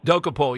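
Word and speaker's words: Dokoupil: I don't know, this Dokapul, is that how you say his name? Dokapul, yeah.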